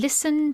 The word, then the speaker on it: listen: you in young and listen to the list can you see the list in listen listen to the list it's a good one that because there's a silent T in listen another one is be